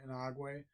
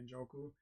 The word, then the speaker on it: Njoku: Inagwe, at tight end. Njoku. I'm sorry, Njoku.